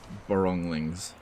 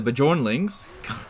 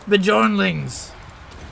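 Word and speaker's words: Bjornlings: Yeah, after we're finished with the Boronglings. You mean the Bajornlings? Pronounce it right, dude. It's Bajornlings!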